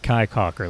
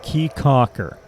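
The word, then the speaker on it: Caye Caulker: out to what they call Key CER not Kai Cocker like I was pronouncing that before we got to bizer U it's it's key Cocker it's not the largest of the islands the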